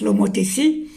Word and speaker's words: homothétie: je vais vous l'expliquer, il est relatif à l'homothétie, ça se prononce l'homothétie, qui en mathématiques est